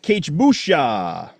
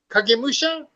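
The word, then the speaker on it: Kagemusha: Um, after that, K Musha. Kag Musha.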